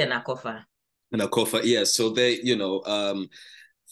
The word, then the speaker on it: Akorfa: How do I pronounce, by the way, the two names? Yes, Selasi and Akorfa.